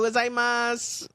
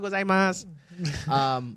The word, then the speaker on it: gozaimasu: But they have, so the spelling is weird though, because if you spell out gozaimasu, there's a U at the end, but they don't really pronounce it when they say it. It's arigato gozaimasu, but there's a U, so technically it would be arigato gozaimasu, but they don't do the s at the end, or at least I don't hear it Salud.